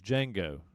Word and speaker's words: Django: He goes, "Jango." He said, "Uh, it's spelled with a D, but the D is silent."